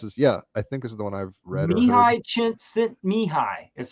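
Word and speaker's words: Csikszentmihalyi: Mihi Chint Mihi is how you pronounce that man's name.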